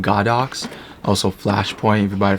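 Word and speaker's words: Godox: brand but um yeah this is a go Doc's or I think it's pronounced God ox also flash point your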